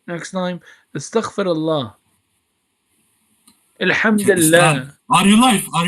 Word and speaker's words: Astaghfirullah: Astaghfirullah.